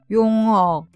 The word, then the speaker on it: 용어: The answer is 용어: terminology Let's pronounce each word while considering the difference in